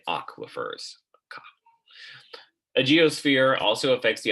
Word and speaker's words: aquifers: is rocks and aquifers that's how you say it aquafers a geosphere also affects